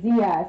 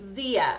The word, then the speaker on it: Zia: Ooh, and Agrod says that it's like Zia, so it's pronounced with a Z. Zia.